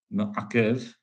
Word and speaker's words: ma'akev: Ma'akev means, or ma'akev, with a kaf, not a kuf.